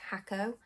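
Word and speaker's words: Jacó: did it's called it's spelt jacko but it's pronounced hakko uh puerto vejo pinto over and not here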